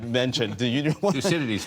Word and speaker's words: Thucydides: Thucydides. Thucydides, yes.